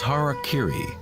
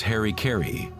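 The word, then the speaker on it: hara-kiri: one form of ritual suicide or seppuku was harak Kiri was often mispronounced as Harry Kerry it means to impale one's Hara thereby cutting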